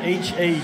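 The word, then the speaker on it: Haugh: then this is just a rip drive for ha spelled h a u CH h pronounced Hal with a K that's hard driving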